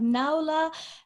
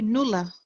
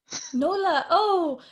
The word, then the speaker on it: Noula: We have Noula Diamantopoulos. You actually did not bad. It's actually Noula. Noula. I messed up your first name. This is terrible. So no, not at all. Noula.